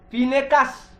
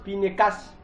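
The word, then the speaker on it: Phinées: En hébreu, on dit pinécas. En hébreu, hein, ça se prononce pincas. En égyptien, on dit pinéazzi. Pinézi en égyptien.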